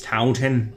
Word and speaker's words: Taunton: You pronounced it wrong. It's Taunton.